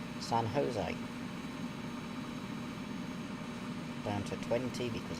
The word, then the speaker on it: San Jose: would actually call it San Jose, which is completely wrong cuz it's a Spanish name rather than English. So J's are pronounced as a Y s or in that case a H. San Jose down to 20 because